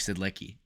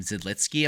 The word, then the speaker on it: Zidlicky: ago Merrick zelitzki uh his name is spelled zidlicky and forever I was like it's merits Merrick said licky Merrick said licky and then I'd hear every single announcer calling him zidlitsky I'm like there's no